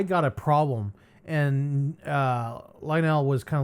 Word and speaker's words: Lionel: that Lionel, Lionel, uh I think that's how you pronounce his name, Lionel, like the trains.